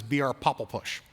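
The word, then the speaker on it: BRPOPLPUSH: pop l push and i always pronounce it as br popple push and we actually did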